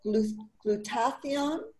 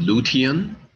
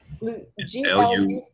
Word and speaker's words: glutathione: Our next question is, what can you tell me about glutathione and collagen for fertility and egg health? Sorry if I didn't pronounce Are you saying lutein? Glutathione.